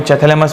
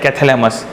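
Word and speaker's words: Chthamalus: कोई लोग इसको कैथेलेमस कहते हैं, कोई चैथेलेमस बोलता है according to your pronunciation. Generally I pronounce that कैथेलेमस।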